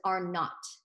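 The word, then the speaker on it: R₀: Nina from California also asked about this R with a little zero next to it, which is pronounced as R naught.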